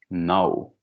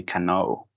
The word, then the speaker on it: know: An example, conocer in English, it's know, okay? You don't pronounce letter K, you don't say cano, okay?